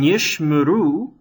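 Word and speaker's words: יִשְׁמְרוּ: So in Yishmuru, the Shewa under the shin is silent, because it's the first of two Shewas.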